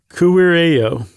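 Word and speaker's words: kuirejo: EJO, and the J's are pronounced as a Y.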